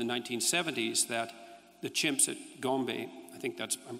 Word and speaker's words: Gombe: But then, of course, Goodall showed in the 1970s that the chimps at Gombe, I think that's, I'm pronouncing that correctly, yep, would go on raiding parties, right?